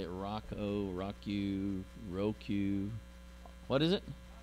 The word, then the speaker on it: Roku: We just got this thing that it's called, I don't know how they say it, Roku. What is it? Roku, thank you.